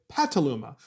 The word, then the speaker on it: Petaluma: stations in petaluma california it's actually spelled petaluma but they pronounce it pataluma we have a series